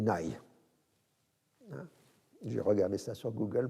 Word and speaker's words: Nagy: d'un frein revenir alors français on dit imre nagy il ya en gros on dit nay dû regarder ça sur